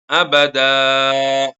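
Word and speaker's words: أبدا: ചെയ്യുമ്പോൾ സൈദാ അബദൻ എന്നുള്ളത് അബദാ എന്നാണല്ലോ വഖ്ഫ് ചെയ്യുക അപ്പൊ അവിടെയുള്ള തൻവീനിൽ ഉള്ള നൂനിനെ നമ്മൾ അലിഫാക്കി മാറ്റി മാറ്റുന്നുണ്ട് ആ നൂനിന് പകരമാണ് വഖുഫിന്റെ വേളയിൽ നമ്മൾ അലിഫ് നൽകുന്നത് അല്ലേ അബദൻ എന്നതിലുള്ള അബദൻ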